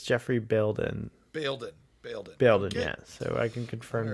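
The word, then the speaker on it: Geoffrey Bayldon: years up uh so I just heard uh the name uh pronounced by the way it is Jeffrey building yeah so I can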